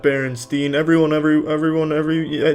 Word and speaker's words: Berenstain: It's always been Berenstain, not Berenstain. Everyone every everyone every they all want to pronounce it Steen but it's Stain.